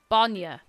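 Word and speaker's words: bainne: Banya. Banya. It's not banya, it's banya. Banya. It's an ah.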